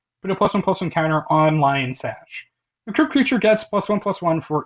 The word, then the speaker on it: Lion Sash: I've heard some people pronounce this as Leon Sash, and I'm like, I don't. No, it's Lion Sash. This is a lion, bro.